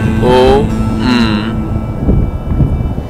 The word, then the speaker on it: Om: Three syllables, Ah, O, M.